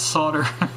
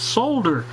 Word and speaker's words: solder: This English guy said it's solder. And of course all the Americans said it's solder. I think there was 22 replies on that. It was kind of funny. But anyway, just for my British people over there, you guys, I know you guys pronounce it solder. That's fine. And that's the way it is in the dictionary for you guys. But our dictionary says solder.